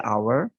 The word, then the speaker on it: hour: Tapi kita ingat lagi bahwa bukan cuma sekedar huruf pertama di, di kata itu, tetapi pengucapannya yang dilihat. Ini dibaca hour, ini dibaca whole.